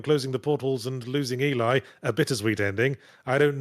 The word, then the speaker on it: Ys: a big why okay I always say e I believe e is the pronunciation but it's just a